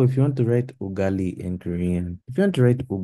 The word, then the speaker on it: ugali: it like this is ugari. Although some people do pronounce it like that, but it's not their wanting. This is how their language is shaped. Proper way, ugali.